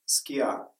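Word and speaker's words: σκιά: Слово «тень» на греческом языке есть слово примерно «скиа» с ударением на «а».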